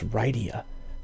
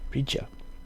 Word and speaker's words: Rydia: I always thought the English pronunciation was Rydia. Let me just check. I always thought it was Rydia. The spelling in English was R-Y-D-I-A. But it looks like here with the phonetic, the katakana Rija.